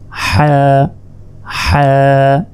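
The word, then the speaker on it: حاء: এটা হচ্ছে হা হা, এক আলিফ হা। হলকের মধ্যভাগ হতে হা উচ্চারিত হয়, হা।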